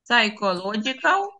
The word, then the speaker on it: psychological: Book через вимовляємоite myite of Book pchologal психологічні psychological books вимовляється Да не вимовляється pyло pychological books Good